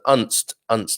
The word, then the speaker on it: Unst: You pronounce the U as in unstable. So Unst.